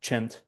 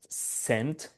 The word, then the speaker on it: CEnT-S: they call it uh Chent. Okay, this is not scent or like in Italian like C is pronounced as chi and yeah they call it chent.